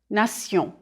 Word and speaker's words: nation: The French pronunciation is nation. Repeat, nation. If you know that the endings T-I-O-N and S-I-O-N are pronounced sion in French, you won't have much trouble understanding these French words.